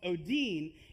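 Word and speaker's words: ὠδίν: is the word sorrows, in the original language, it's pronounced odin.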